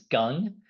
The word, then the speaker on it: Gung: My name is Gung. It's pronounced like gung ho, if that's easier to remember.